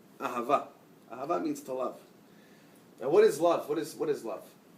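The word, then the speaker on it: אהבה: In Hebrew, the word love is spelled Aleph, Hey, Bet, Hey. Ahava.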